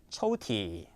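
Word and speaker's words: 抽屉: 초티, 초티라고 읽습니다.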